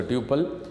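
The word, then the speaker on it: tuple: Record is also called टपल, कोई इसको टपल pronounce करता है, कोई इसको ट्यूपल इन रिलेशन डेटाबेस।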